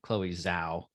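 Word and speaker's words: Chloé Zhao: director and i believe her name is pronounced chloe zao yeah um and i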